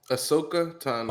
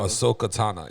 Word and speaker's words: Ahsoka Tano: How do you pronounce her name? it's Ahsoka Ashokoya? Tano. Or yeah, what was it? Ahsoka Tano. Ahsoka Tano.